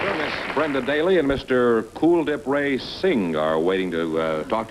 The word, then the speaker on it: Kuldhip: Is that the way you pronounce it? Kuldhip? Yes, it is like the word cool.